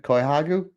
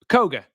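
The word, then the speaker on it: Kohgo: Rob, how am I pronouncing this last name again? Koihagu? Koga, Miria Koga.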